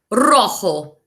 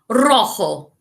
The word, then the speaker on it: rojo: Red, rojo. You say it, rojo. Rojo. Make sure you roll your R's like this.